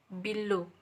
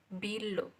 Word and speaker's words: below: word number one is below the stress is low below uh be be behind